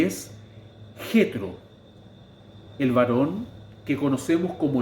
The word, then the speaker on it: Jetro: importancia de este personaje, Jetro, cuyo nombre en hebreo se pronuncia Yetro.